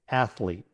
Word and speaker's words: athlete: And don't forget, it's a concise word with just 2 syllables, athlete.